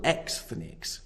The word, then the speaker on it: Xthnics: The following is taken from an essay called Triple Xthnics, Jews in the American Porn Industry. And yes, I did pronounce that correctly.